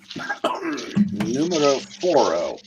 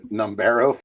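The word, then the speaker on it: número: Oh, uh, numero elo. Yes. As somebody that takes dual lingo, I can tell you that's not how it's said. Quatro. Oh. Oh. Um, so, so Nomero is not right. Numero. Numero.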